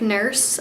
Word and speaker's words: Nourse: It's spelled N-O-U-R-S-E, but it sounds like nurse.